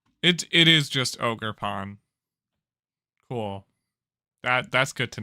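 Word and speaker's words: Ogerpon: the face of the ogre uh ogre it's ogre Pawn or a pond Google translate please save my life Google translate how do I pronounce this name it it is just ogre Pawn cool that that's good to know um dropped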